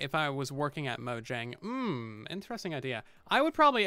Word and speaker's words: Mojang: more evil deadly things mojang is pronounced moyang i think they just changed their official pronunciation to be mojang actually when they redid